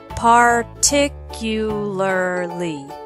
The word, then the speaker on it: particularly: For example, the last two syllables of particularly.